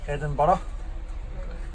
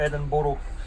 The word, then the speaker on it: Edinburgh: Is there only one pronunciation? Edinburgh. Not Edinburgh. Mystery solved.